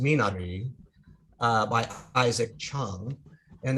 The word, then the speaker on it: Minari: one is a film called minari or i think it's pronounced minari uh by isaac chung